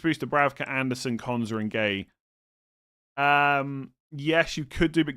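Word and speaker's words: Guéhi: Bench booster, Bravka, Anderson, Konza, and Gay. Yes, you could do, but Gay might... Giyu, I think is how you say it.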